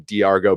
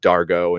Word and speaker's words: Dargo: Like I was calling him Diargo, but I guess they just call him Dargo and Zahn and Rigel.